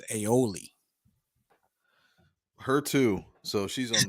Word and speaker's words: aioli: cheddar cheese and truffle aeolia on a toasted irish buttered brioche bun now i do know the one thing and you said you already apologized i think the pronunciation is aioli her too so she's